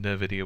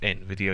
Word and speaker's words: Nvidia: want to pronounce it I always call them ner video which is probably wrong but you know I know it's N Video you always hear on